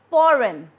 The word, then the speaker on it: foreign: The first word is foreign, sign, design, and assign. In all these 4 words, G is silent.